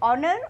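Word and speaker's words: honour: इसी तरह से ऑनर, ऑनर में भी एच साइलेंट है।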